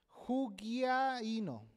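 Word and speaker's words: ὑγιαίνω: Qué significa en griego es jino lo vuelvo a deletrear j u G de gato I de Irma a i de Irma con acento en la i n o jug ahí no esto significa tener buena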